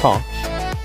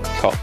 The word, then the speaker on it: cosh: I pronounce them as shine, cosh, and I pronounce tan h as than. You might also hear them called cinch, cotch, and tanch, with a CH in there, no reason why.